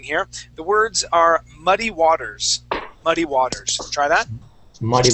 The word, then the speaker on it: Waters: all right let's uh let's practice that W right there W Waters Waters okay so how we pronounce how we pronounce that right now what you're doing is that you're using a v sound saying V Waters Earth okay all right